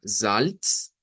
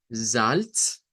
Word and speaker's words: Salz: O sea, que una cosa sería decir Salz, Salz, con la ts al final, y otra cosa que se nos dice acá es que podría existir una pronunciación alterna que considere que esa Z va a sonar como una S silbante.